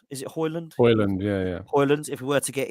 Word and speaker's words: Højlund: Højlund.